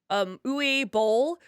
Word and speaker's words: Uwe Boll: If you could have any of your cast members play, and I always say this name wrong, Uwe Boll, who would you pick and why?